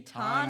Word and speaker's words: Tiki Taane: was perfect timing and pronunciation on the name, by the way. I really enjoyed that. Thank you. It's Tiki Taane, so well done.